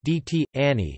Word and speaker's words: Dečani: Visoki Dečani, Serbian Cyrillic, Visoki Dečani Albanian, Manastiri I Dekanat, or simply Dečani, pronounced DT Ani, is a medieval Serbian Orthodox Christian monastery located near Dečan, Kosovo.